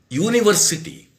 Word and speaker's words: university: For example, university. According to my rule, you have to use an university. Now, we are pronouncing the first one as you, you.